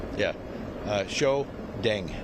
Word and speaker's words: Shiou: Uh show Deng. D E N G. Yeah, it's pronounced show.